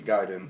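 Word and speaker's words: Gaiden: other way so yeah the way You' pronounce it in Japanese would be giden giden uh okay so nun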